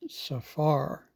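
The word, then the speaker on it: צפר: This word is pronounced safar.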